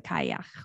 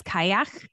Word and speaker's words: Cailleach: overlapping stories of the kayak where the kyle i she says kayak in that video although when it's written the pronunciation looks like it should be where you pronounce the l's so i'm not sure